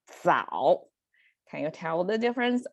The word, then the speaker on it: 早: sound pronunciation over there, which signifies you have to kind of curl up your tongue to make it 找 versus the other one is 早.